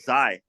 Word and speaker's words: Xi: The How actual do you spell that? Yeah, Zai, it's XI.